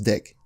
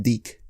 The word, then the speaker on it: DIC: one of the biggest producers of cartoons was dick dick was huge in the 80s and 90s and all the kids just it's it's pronounced deke deke produced shows like Inspector Gadget mask the